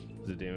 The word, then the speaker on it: Zidane: But I hated how Dissidia is pronounced Zidane and Titus's names. I agree. It's Zidane and Titus, and I will hear nothing else of it.